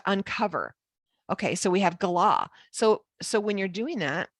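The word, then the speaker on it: גָּלָה: Gala.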